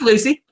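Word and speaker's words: Lucie: bed my first name is it Lucy is that how you say it cuz that's a pretty way to spell it yeah that's Lucy Lucy with an IE that's a pretty weighty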